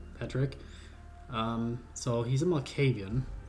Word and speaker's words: Pádraic: going to go here his name is paric as I found out it's probably the correct Irish pronunciation but I sometimes call him Patrick um so he's a